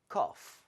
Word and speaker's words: cough: cough. cough, 콜록콜록 하는 거. cough, 설마. cough. 자, 비슷해요. 비슷한데 자, 스펠링을 다시 드릴게요. C-O-U C-O-U G-H. G-H. 우리가 enough처럼 마치 GH가 F 비슷하게 발음이 될 수가 있습니다.